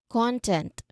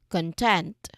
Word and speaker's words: content: Content versus content. Okay, again, first word we are um stressed on the first syllable. Content. Second syllable. For the second one, content.